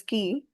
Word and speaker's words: qui: Pronunciation is key.